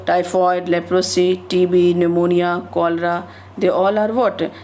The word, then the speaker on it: pneumonia: Then the pneumonia. It is starting with P, but when we pronounce, then this P is silent and we use the term, we pronounce it how? Pneumonia.